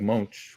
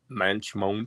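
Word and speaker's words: Moench: the writer on it Doug Munch again Doug Munch whatever you say his name mench MCH he was a he was a mench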